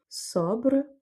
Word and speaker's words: sobre: Sobre, qui veut dire sur quelque chose. Et donc là, vu que le O est avant le B, on va prononcer O ouvert.